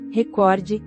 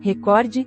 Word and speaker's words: recorde: Para o fiscal da lei, a pronúncia correta do termo é recorde paroxítona, enquanto diversos locutores da Globo pronunciam, recorde, proparoxítona.